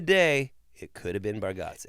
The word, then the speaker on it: Bargatze: I'm just saying that back in the day, it could have been Bargatze. It's Gatsy. Look, it's Gatze. I get that. Gat, not Go.